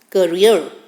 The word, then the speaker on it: courier: The pronunciation is courier.